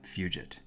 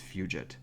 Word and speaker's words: Fugit: it I'm pretty sure that you actually pronunciate is fugit but come on you got to have a little bit of fun atmospheric as hell a